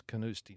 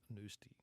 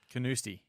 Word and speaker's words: Carnoustie: went to canuse tea I asked some of the locals how to pronounce it and they tell me it's canuse tea not news to you canuse tea you know it's like